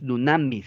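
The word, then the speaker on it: δύναμις: Dice, "Los evangelistas hablaban de hechos milagrosos en el término poder y esa palabra es dunameis, que es dunamis se pronuncia.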